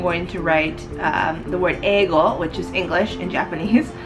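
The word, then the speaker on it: 英語: So as you can see right below where my Japanese characters are, it says eigo, E-I-G-O, eigo, which is English in Japanese.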